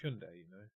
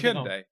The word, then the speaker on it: Hyundai: It's pronounced Hyundai, I don't think they say that in the advert. They do in many of the others. Oh, right. Well, I mean, it doesn't really matter. It's pronounced Hyundai, by the way.